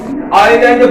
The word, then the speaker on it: island: জন্য কিন্তু এই উচ্চারণ, কিন্তু সঠিক উচ্চারণ হচ্ছে এস এর কোনো উচ্চারণ হবে না, আইল্যান্ড উচ্চারণ হবে। আই ভাওয়েল, তাই তার আগে বসেছে article অ্যান্ড, আইল্যান্ড অ্যান্ড আইল্যান্ড, আইল্যান্ড মানে হচ্ছে দ্বীপ।